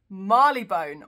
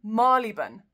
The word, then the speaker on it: Marylebone: It looks like it could be Marylebone, but it isn't. It's Marylebone, or even Marylebone.